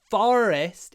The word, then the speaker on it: forest: It's the same in fort and forest. Fort is the or, but forest is the Fort, forest. Okay.